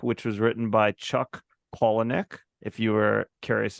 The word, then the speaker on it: Palahniuk: on a book which was written by Chuck colonic if you were curious how to say his